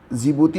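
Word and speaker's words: Djibouti: ई वाई डजी तो डी फॉर जिबूती हो जाएगा इसमें डी साइलेंट रहता है फिर आया आपका इरिट्रिया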